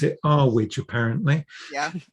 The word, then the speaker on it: Earwig: I meant to pronounce it Arwidge, apparently. Yeah, Arwidge. Arwidge.